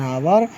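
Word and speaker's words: hour: बी, जिन शब्दों में H silent रहता है उनसे पहले एन का प्रयोग होता है। जैसे एन आवर, an honest man, N honourable man, N hair.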